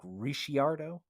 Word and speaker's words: Ricciardo: are many things but ricardo his last name it's spelled ricciardo ricciardo and i remember an interview where he explained his name's actually italian so it's like ricciardo um but they moved